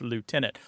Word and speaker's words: lieutenant: and United States English, did prefer the Lou pronunciation, L-I-E-U, to be pronounced, because he felt it hewed more closely to the etymological origins of the word.